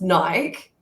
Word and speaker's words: Nike: up yeah stop it I must be pronounced naik absolutely that's yeah I know it should be pronounced naik but the brain calls it Nike Nike yeah that's that's the branding but yeah I know the word itself is Nike cut your watch that's